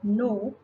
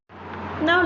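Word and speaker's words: know: In the word no, K-N-O-W, the letter K is silent. We cannot hear the sound of the letter K.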